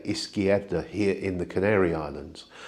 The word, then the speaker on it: izquierda: A Castilian Spanish speaker will pronounce the Z as a th, whereas here in the Canaries we pronounce it almost like an S.